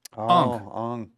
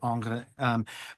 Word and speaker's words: Ingres: It's Ong. Yeah. The Ingres. I don't know. There are a lot of ways to pronounce it. Yeah. I just say Angre.